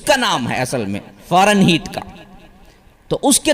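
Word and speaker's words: Fahrenheit: Heat تھا۔ اور یہ ہیٹ وہ نہیں ہے جو HEAT ہیٹ گرمی سے ہوتا ہے، وہ ہیٹ نہیں ہے، یہ HEIT ہے، اس کا نام ہے اصل میں فارن ہیٹ کا۔ تو اس کے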